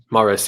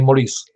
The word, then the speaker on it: Morris: Morris or Maurice? Morris, yeah. Only the French call me Maurice. Yeah, Maurice. It's like the song. There's a song with Maurice in it. So Morris.